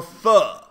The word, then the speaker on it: pho: I have to choose how many times I can go for tacos or pho. All right? That's how you say it. P-H-O is pho. It's not pho.